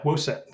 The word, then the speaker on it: WOSET: want to plug um is it wow set how do you pronounce it oh yeah whoa set so woset is the work workshop on